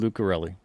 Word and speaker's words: Lucarelli: When I read Tinseltown by David Lucarelli, did I say his name right? Yep. David Lucarelli.